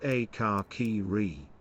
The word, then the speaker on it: Akakiri: Furrycures 1221 paid me to say it's pronounced Akakiri. It means red haze in Japanese.